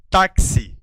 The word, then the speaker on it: táxi: Se você observar, e já viu comigo, esse X tem um som de KS. Então, são 2 sons e não apenas um.